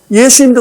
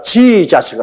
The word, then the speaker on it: 예수: 아버지 이름만은 정하게 불러야죠 예수님도 그렇지 않습니까 정확한 예수님의 이름은 예수입니다 예수 우리 한국말이 딱 맞아요 근데이 미국사람들은 자기들 발음에 맞춰 가지고 지자식 합니다 예수님하고 지혜 자수하고 얼마나 다릅니까 아마 예수님도 오셔서 저거